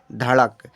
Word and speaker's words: धड़क: Next है DHAKAD, इसे हम पढ़ेंगे धड़क। क्या? धड़क। सो DH से धौ लेते हैं बच्चा। अब ए साइलेंट रहेगा, KA से कालिया, डी से अड़ा, तो हमने लिख दिया धड़क।